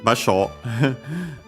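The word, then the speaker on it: 場所: Yeah, basho means place, location, spot, and so on, unaccented.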